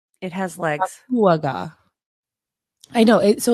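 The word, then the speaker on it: Dakuwaqa: It's the picture on the top is their shark god, and that is pronounced. It has legs. Akuaga.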